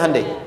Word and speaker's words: Hyundai: di sana bikin Honda sini hundai Hyundai kan dibacanya hundai ya kan sana Honda